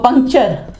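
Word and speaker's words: puncture: ये जो पंक्चर पंक्चर लगाते हो ना मोटरसाइकिल साइकिलों वगैरह को पंक पंकचर। पंक्चर। ठीक है? यहां पे देखिए टी के बाद यू आर इ आया।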